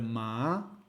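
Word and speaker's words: 麻: Si nosotros vamos con el patrón azul y pronunciamos ma con un tono ascendente, que podría ser ma, vamos a estar diciendo la palabra cáñamo.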